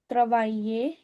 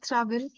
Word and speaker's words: travailler: So we don't call it as travel. It's also we discussed AI का sound आज ना. AI gives the sound of A. So try to जैसे वो हम A, करते हैं ना बचपन में A, छोटा छोटा करके. So travailler, travailler, yeah.